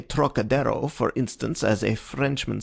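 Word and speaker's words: Trocadéro: That peculiar throaty aspirate the Frenchman gives to the first syllable, as though it were spelled Turok, is utterly beyond the Chinese, and beyond the American too, whose idea of the tonsillar aspirate leads him to speak of the trochidiro, naturally falling back upon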